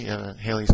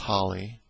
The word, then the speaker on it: Halley: named after Halley, Sir Edmund Halley, sometimes called Halley, Halley's Comet. That's generally the way it's called in the United States, but it's most likely pronounced Halley.